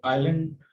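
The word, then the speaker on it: island: और ये हम जो है इसमें एन साकिन रहेगी, और इसको आइलैंड जो है वो पढ़ा जाता है।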